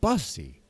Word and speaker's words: bussy: PPP said bussy. I think he meant bussy. It's bussy. It rhymes with pussy.